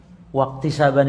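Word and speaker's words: اكتسابا: Alqaidatul ula afalul ibadi tunabuallahi khq wajadanu ilal abdi tahsilanaban waktisaban itu pakai kaf ya kaf bukan qof Wtisaban tadi saya bacanya waq ya kan salah itu waq pakai kaf waq iktisab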